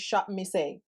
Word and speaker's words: Shopmissa: And girl, I was on Shop Miss A, and girl, the last time I said it wrong, it's Shop Miss A.